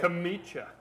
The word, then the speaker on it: Chomichuk: it is it CH no I just want to hear you say ch ch Che so everyone who knows how to say it right will know that that isn't it okay well that's a very creative way of doing how do you actually say it kamich kamich yeah and it's